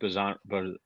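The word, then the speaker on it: Bijan: I just think Bajan, is that how you say it, actually?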